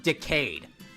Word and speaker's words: Decade: It's pronounced Decayed.